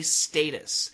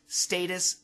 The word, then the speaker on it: status: using it as high status St a t s we have two pronunciations status and Status both are fine a high status person